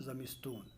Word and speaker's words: زمستان: ودر تابستون میرا صد، یہ تابستان ہے اور تلفظ اس کا تابستون کیا جاتا ہے، زمستان زمستون، زمستان ہو گیا جاڑے کا موسم اور اس کا تلفظ کیا جاتا ہے زمستون، اسی طریقے سے تابستان ہے تو تلفظ آپ کریں گے تابستون۔ ودر تابستون میرا صد،